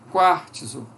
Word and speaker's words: quartzo: Quartzo, nós temos ti, esse T aqui, depois do quar, esse T aparece como um izinho, quartzo, ti.